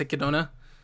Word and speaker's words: Echidna: and i don't care i i know it's pronounced kidona i'm calling her echidna because that's how it's spelled okay so visually